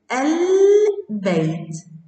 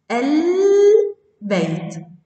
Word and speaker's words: البيت: ثانيا تنطق كلمة بيت البيت البيت، نطقت اللام. مسجد إذا دخلت عليها ال تنطق المسجد المسجد، أيضا نطقت اللام.